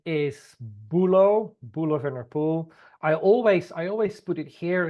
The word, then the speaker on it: Boelo van der Poole: So as Hannah said, my name is Boelo van der Poole. I always put it here as well, so you know exactly how it's pronounced, because otherwise I get all these people